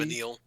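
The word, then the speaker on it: Vanille: So, one of them is Venil, and that's Cheerful LC. And that's how that's pronounced. LC. Vanil.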